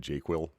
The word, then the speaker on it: JQL: Als uh Banditfist um I like to pronounce it jQuil.